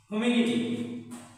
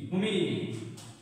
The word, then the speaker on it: Hominidae: গোত্র হচ্ছে মানুষের গোত্র হচ্ছে হোমিনিডি, HOMINIDAE, হোমিনিডি।